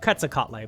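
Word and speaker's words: Quetzalcoatl: of my pet peeves it's pronounced like quazar yes and it's quazar is easier to say than quasa catle absolutely and if you want to be technical it's probably pronounced quak catle but whatever now I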